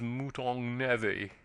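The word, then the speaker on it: mouton aux navets: "Mouton au navet," added the butler gravely. "Pronounced, if you please, mouton navet."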